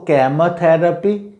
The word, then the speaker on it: chemotherapy: इसके बाद ये है कि इसका प्रोनाउंसिएशन ऐसे की से भी स्टार्ट होता है, के की जगह। अगर हम की इसके प्रोनाउंसिएशन को लेते हैं तो होता है जैसे कीमोथेरेपी, कीमोथेरेपी, कीमोथेरेपी और कीमोथेरेपी, कीमोथेरेपी, कीमोथेरेपी।